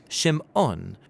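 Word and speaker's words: שמעון: a son and she names him simon or in hebrew shim on because she says the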